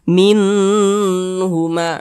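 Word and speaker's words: مِنْهُمَا: jelas dan tidak berdengung baca pendek saja minhuma minhuma begitu Jangan dibaca minhuma nanti kasihkan belagu didengungkan pula salah pendek saja minhuma begitu ma dibaca panjang sekarang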